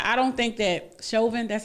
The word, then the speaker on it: Chauvin: enough i keep saying i don't think that chauvin that's how you say his name i don't